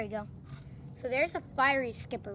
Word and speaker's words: fiery skipper: uh mispronunciation last time it's uh not fairy skipper fiery skipper just figured that out